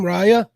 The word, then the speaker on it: Raya: Is that how you say her name, Raya? Yep, you got it. Most people will usually mispronounce it.